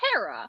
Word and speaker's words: Hera: not how they're pronounced it's not her it's Hera like right and so